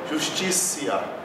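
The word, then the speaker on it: justitia: Então aqui na palavra justiça, nós temos duas ocorrências da sílaba ti, sendo que a primeira, como é precedida de S e a sílaba tônica, a gente pronuncia como T. E na segunda, a gente pronuncia como C. Então fica justicia.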